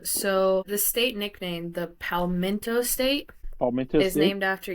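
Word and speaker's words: palmetto: it palmento or PTO oh it's called It's pronounced palmento but it's p a l m e t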